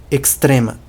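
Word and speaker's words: ekstrema: A pronúncia não é a mesma, mas onde tinha um X do português, vira um KS. Não só nessa palavra, mas em muitas outras palavras em que geralmente aparece um X na letra em português, vai aparecer um KS na letra em Esperanto, na palavra em Esperanto.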